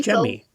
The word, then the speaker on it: Jamie: She spells her name like Jamie, Jamie, but she pronounces her name Okay, so Jemmy. So when I look at the form, I would mhm, introduce her as Jamie, and her name is Jemmy.